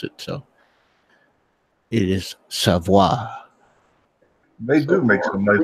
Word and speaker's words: Savoy: out on their Instagram page on how to pronounce it. So it is Savoy.